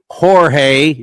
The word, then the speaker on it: Jorge: And I know it's pronounced Jorge, J O R G E, but he goes, "Don't call me Don't call me Jorge."